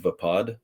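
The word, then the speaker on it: Vaapad: lightsaber dueling which is I think it's pronounced vapad v a a p a d which is one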